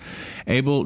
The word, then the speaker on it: Abel: Abel.